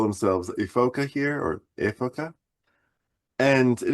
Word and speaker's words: Ephoca: And it is made by Efoca, Ephoca. Efoca is how you say it in Italian.